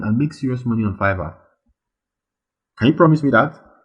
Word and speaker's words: Fiverr: to perform those services it is pronounced fiverr not fever and it got its